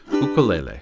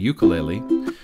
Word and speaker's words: ukulele: off you'll notice that I'm using the instrument's traditional pronunciation ukulele though I often slip back and forth between that and ukulele the way it's most often pronounced in my area learning the ukulele requires